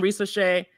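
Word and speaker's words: Risacher: So I still have a like on Risa Shea. And am I pronouncing his name wrong?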